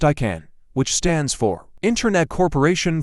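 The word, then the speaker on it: ICANN: TLD dis is called ICA and and pronounced I can which stands for internet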